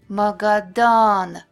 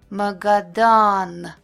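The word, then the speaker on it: Магадан: Magadan, Magadan. O is pronounced clear and long when it's stressed, Akno.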